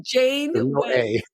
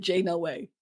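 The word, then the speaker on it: Janeway: Jade away Roth away how do you say it Captain Jane way oh it's Jane way Jane way you know what's so funny all my life I've said Jay way I thought it was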